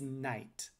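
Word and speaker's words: knight: a k sound and the gh is a bit weird because gh occurs in quite a few english words but it's almost always silent so why is it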